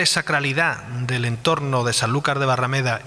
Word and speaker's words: Sanlúcar: porque vivo en rota escuchaba hablar de sanlúcar pero con la pronunciación yo entendía san lucas pero en realidad es sanlúcar de barrameda entonces me gustaría que